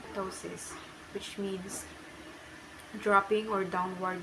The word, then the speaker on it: ptosis: PT, pronunciation T, example ptosis, which means dropping or downward displacement.